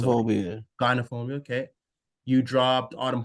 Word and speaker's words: Gynophobia: You dropped, is it pronounced genophobia? Yeah, I think so. Gynophobia.